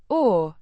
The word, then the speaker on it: och: Means the cables pronounced Cobbler cables is the plural noun and n is the definite plural suffix o means and pronounced oak like a softer version of the English.